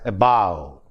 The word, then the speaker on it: above: In the same way, in a word like above, above, the first syllable is a, which is not stressed. Bow is stressed, and so the word is pronounced as above.